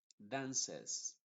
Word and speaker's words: dances: una Z closes danes la primera c se pronuncia como una s y la última como una Z inglesa dances dances y es difícil